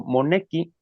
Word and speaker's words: monequi: no todas, o sea, la mayoría de las palabras son eh graves, tienen ese acento prosódico en la penúltima sílaba. Ajá. En este caso, monequi, ajá. El acento prosódico va en en Monequi.